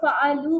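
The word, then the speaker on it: فعلوا: वैसे तो इसके एंड में भी अलिफ है, लेकिन अलिफ यहाँ पे साइलेंट है, हम इसको फ़अलू पढ़ते हैं।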